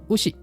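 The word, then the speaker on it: 牛: Onyominya gyu, kunyominya ushi.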